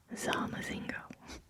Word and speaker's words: zamazingo: It's kind of hard to whisper a Z, so it might come off as a C sound, but it is Zamazingo. Zamazingo.